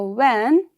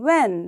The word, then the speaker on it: when: Now when, in the word when, it is spelled as W-H-E-N, when, right? But we don't say when, right? We say when. So H is a silent word.